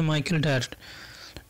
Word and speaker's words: ডায়ার: উচ্চারণটা হবে মাইকেল ডায়ার।